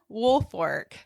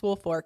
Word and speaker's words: Woolfolk: so let's get started with Richard Wolk Richard woolfork so the name is spelled Wolk but it's pronounced woolfork you know our our Southern um we like